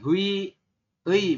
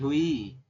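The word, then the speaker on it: 회의: Kemudian ini hui ei bukan ya, tapi hui. Hui seperti itu. Artinya rapat.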